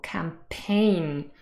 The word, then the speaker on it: campaign: this is not correct this word is stressed on the second syllable campaign and then there's a